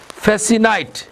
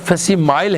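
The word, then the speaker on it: facsimile: आगे है जी हमारा number 10, fax stands for फेसिनाइल, फेसिनाइल, fax stand for फेसिनाइल, FASCI, फेसिनाइल, spelling इसके देख लें, FASCI CILE, ये वर्ड फेसिमाइल है, इसको चेक कर लीजिए, फेसिमाइल है, फैक्स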